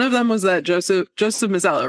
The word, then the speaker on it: Mazzello: But one of them was that Joseph Mazzello, right?